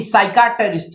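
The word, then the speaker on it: psychiatrist: यहां साइटिस होता है तो पी क्या है साइलेंट है क्योंकि साइकेट्रिस्ट है तो यहां अगर हम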